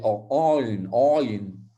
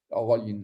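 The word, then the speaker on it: עין: La lettre Ayin, c'est la dernière lettre que normalement on devrait prononcer Ayin, de manière sémitique. Moi, je ne saurais pas le dire en fait. Ayin. Donc, c'est un A. On va dire que ça se prononce comme un A.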